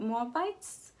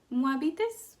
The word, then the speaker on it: Moabites: them in English but moabites moabitas moabitas it's in Spanish and the younger daughter